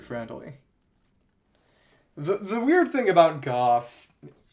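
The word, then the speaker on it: Gough: The weird thing about Goff, his name is spelled G-O-U-G-H, but it's pronounced Goff, like cough, is that, well, I guess we can buy these.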